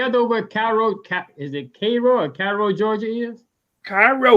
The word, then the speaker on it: Cairo: But it's pronounced look, it got Cairo, but it's Cairo. Right. Cairo, Georgia.